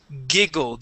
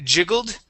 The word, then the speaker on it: giggled: whatnot yep Tiara tiara now this word here is giggled instead of J jiggled Okay g say it again sorry G giggled giggled yeah jiggled would be with a J at the very beginning this is giggled okay thank you uhhuh